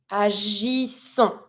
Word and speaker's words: agissons: We have the G, agissons. Okay, double S sound, don't pronounce the final S.